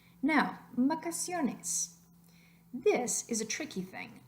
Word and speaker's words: vacaciones: So we've got vacaciones. Vacaciones. Where do you hear that extra oomph, that extra emphasis? Vacaciones. You hear it on the second to last syllable.